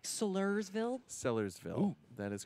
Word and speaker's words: Sellersville: Sullivan Sellersville though right it's not like Sellersville Sellersville that is correct a lot of people say stellar stellar ville but that's not right Adam what are you